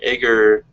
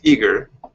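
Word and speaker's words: Aegir: differently i've i've become i've pronounced it asia or aeger but it's eager and uh there were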